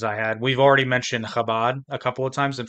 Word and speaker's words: Chabad: So like if it was supposed to be pronounced Chabad, not Chabad, I would actually have to consciously think about not putting the phlegm in that word for some reason.